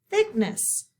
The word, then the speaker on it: thickness: Thickness, thickness. Okay. So we have TH that we need to underline for our digraph. We're going to underline CK. We do not hear the C because it has a K sound there.